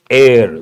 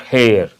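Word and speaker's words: heir: exam point of view it begins with a silent h or mute H then we have to use the indefinite article an not a an air not hair enemal and important word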